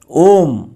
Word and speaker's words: ओम: म अक्षर लेने से अ अधिक उ अधिक म बरोबर ओम। ओम यह संयुक्त उच्चारण हो जाता है।